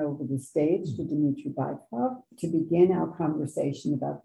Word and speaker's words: Bykov: First of all, dear friends, I must say that the correct pronunciation, I'm sorry, is Bykov, because Dmitry Bykov is a very well-known dictator.